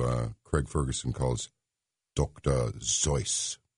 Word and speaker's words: Seuss: Craig Ferguson calls Dr zo which is actually the correct pronunciation of the name but it'll be Dr Seuss I don't remember the